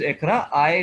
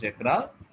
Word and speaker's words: Iqra: My name is Ikra, which is spelled SIQRA. I for, Q for, R for, and A for.